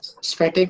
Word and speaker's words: स्फटिक: और सर वो एट वाला जो है ना, उसको प्रोनाउंसिएशन करते नहीं बन रहा है, वो क्या है? स्पष्ट, स्फटिक मणि है।